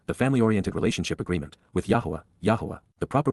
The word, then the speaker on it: Yahowah: the covenant, Beryth, the family-oriented relationship agreement, with Yahowah, the proper pronunciation of the name of Eloah, God as directed in his Torah, teaching regarding his Haya existence and our Shalom.